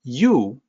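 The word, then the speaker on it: 有: the opinion for this one appears to be you but that's not opinion system it actually sounds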